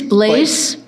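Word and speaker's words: Blais: Uh, my name is Blaze Jr.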